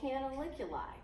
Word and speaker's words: canaliculi: And so these cell membrane extensions are called canaliculi right here. Canaliculi is how you pronounce that.